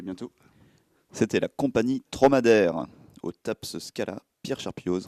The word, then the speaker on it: Trauma d'Ère: Tromadaire, ça s'écrit, on rappelle, Traumadere. Voilà, et pas dromadaire, mais Tromadaire. Voilà, donc suivez cette compagnie de près.